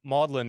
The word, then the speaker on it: Magdalen: to know that um modlin is how is how you say Magdalene at Oxford that's what that is